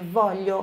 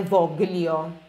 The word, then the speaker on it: voglio: o lei Vuole, atenção, olha esse voglio aqui, não se pronuncia o GL, então é voglio, como se fosse o som do nosso LH em português. Aí eu voglio, não é voglio, ok?